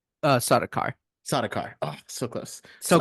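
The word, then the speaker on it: Sardaukar: trady was attacked by the Harkins and the saradar did I pronounce that right uh sodar sodar oh so close so close see you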